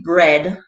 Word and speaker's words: bread: heard too it said the a in bread as well as in tread does nothing you might as well well spell it b r e d for bread and t